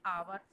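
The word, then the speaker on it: hour: एन आवर. देखिए है तो एच वैसे, लेकिन यहाँ पर एच जो है वो साइलेंट है, उसको हम प्रोनाउंस नहीं कर रहे हैं.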